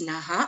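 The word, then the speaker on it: नमः: So we don't pronounce this as Nami Naha Prabhavanti. No, we pronounce this as Nami Nah Prabhavanti. Nami Nah Prabhavanti. So we don't pronounce the full Visarga in this case.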